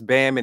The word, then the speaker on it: BAMN: A lot of people ask me, the BAMN stands for Banman. I'm sorry, it's Banman is how you pronounce it, but it stands for by any means necessary.